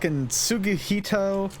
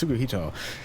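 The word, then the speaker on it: Tsuguhito: about tsugihito yuta i've butchered his name it's tsukuhito um so he is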